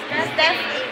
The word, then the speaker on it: Steffi: Pronounce it? Steffi.